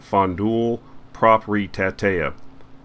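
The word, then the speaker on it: Fondul Proprietatea: The name of the company, I'll try to pronounce it, it's Romanian, but it's pronounced Fondul Propritatea.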